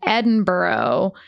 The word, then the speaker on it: Edinburgh: And this was like a You got to learn to pronounce that word before we go there. Edinburgh. Yeah, there you go. Edinburgh. Edinburgh. I mean, I'm no expert, but I know it's not borough.